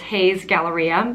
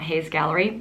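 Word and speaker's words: Hay's Galleria: research and i've realized i'm saying it wrong it's haze galleria not hayes gallery my apologies but a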